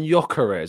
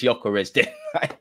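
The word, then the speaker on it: Gyökeres: pronunciations this week um I'm landing on joarez apparently the G is is more silent but I don't know if that's you know I'm going to take your lead man it's joarez we're going for it's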